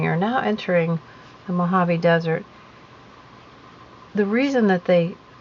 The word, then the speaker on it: Mojave: so this is the mojave desert and it is spelled m o j k v e javi so the J the Hut sound I remember learning the